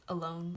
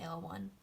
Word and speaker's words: AL1: Moving on, we have AL1, and I know this is supposed to be pronounced alone, but I think I just like saying AL1.